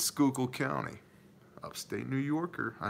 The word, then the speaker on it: Schuylkill: Schuylkill County because I know that it's not pronounced Schuylkill its Schuylkill County upstate New Yorker I know all about